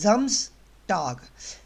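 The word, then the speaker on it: Samstag: ये जम्स pronounce होगा। जितना भी एस होता है आपका जर्मन के अंदर, मैंने शुरू में बताया, वो एज ए जेड प्रोनाउंस होता है। ये एस नहीं है, ये जेड प्रोनाउंस करते हैं हम जर्मन में।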